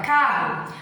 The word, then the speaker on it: carro: No momento que a gente pronuncia, a gente não pronuncia duas vezes o R. A gente pronuncia carro, a gente pronuncia o C, o A, o R e o O.